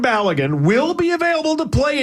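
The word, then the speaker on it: Balogun: Uh, Bulligan, is that how you say it? Ballan. Ballan. Ball. Floren Ballagan will be available to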